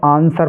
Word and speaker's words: answer: ऐसे ही ANSWER, इसको हम आंसर पढ़ेंगे।